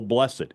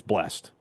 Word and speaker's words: blessed: blessed day is used which is more proper the single syllable blessed or the two syllable blessed it's blessed have a blessed day don't say blessed day is that what they